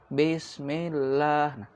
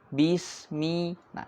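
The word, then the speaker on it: بسم الله: seperti base basemilah bismillah kita sering mendapati banyak sekali anak-anak yang kemudian mengucapkan bismillahnya itu karena bacanya bareng-bareng jadi ngasal base Lah harusnya bismillahirroh hi hi Bismi bismillah ini sedikit tersenyum seperti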